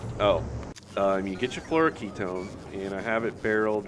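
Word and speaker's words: fluoroketone: say it in my last video but it's Flor Ketone so you take some Flor Ketone which I get from quilo in barrels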